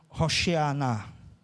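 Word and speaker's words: הושענא: e você fica admirado a palavra Hosana em hebraico ela se pronuncia roxear que quer dizer salve-nos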